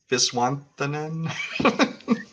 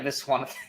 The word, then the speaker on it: Viswanathan: But good luck pronouncing it. Geraldine Viswanathan. Geraldine, yeah, Viswanathan.